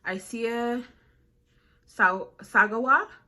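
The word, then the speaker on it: Issei Sagawa: But the guy I'm gonna be talking about today is Isaiah Sagawa. Sagawa. I think that's how you pronounce his name.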